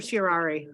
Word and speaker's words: certiorari: How do you pronounce it? Certiorari.